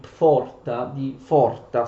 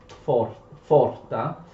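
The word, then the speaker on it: Pforta: prima nel liceo di Forta, scusate la P diciamo non si legge, Forta, che è uno dei più importanti e rinomati licei tedeschi, e poi di frequentare l'università.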